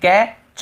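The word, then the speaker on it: catch: वैसे देखिए कैच, यहाँ पर भी टी को कैच नहीं पढ़ रहे हैं।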